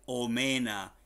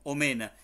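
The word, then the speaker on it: omena: como si sin fines se dice o mena y se escribe tal y cual como los cogen o mena escríbanme lo también aquí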